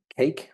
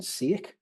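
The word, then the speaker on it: CEIC: And obviously being in Wales, we phonetically say cake rather than ciec.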